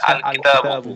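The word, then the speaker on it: الكتاب: জি যেমন আর যে সকল হরফে, যেমন হচ্ছে কিতাবুন, কিতাবুনের আগে যদি আলিফ লাম যুক্ত থাকে তাহলে উচ্চারণ হচ্ছে আল কিতাবু। জি তো এখানে লামের উচ্চারণ আসতেছে, এগুলোকে হরফে কমারি বলতেছে।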